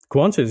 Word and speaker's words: Qantas: Am I pronouncing that right? It is Qantas, right? Qantas, yeah, bonus points if you know what it stands for.